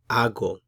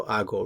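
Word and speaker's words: hago: i will say yo ago yo ago remember for acer the h is silent so we don't pronounce it you have to imagine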